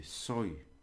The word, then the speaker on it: soy: am I would say soy soy in soy sauce I am soy sauce